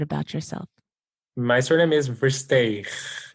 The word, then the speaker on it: Versteegh: If you would, please give me the correct pronunciation of your name and tell me a little bit about yourself. My surname is Versteegh.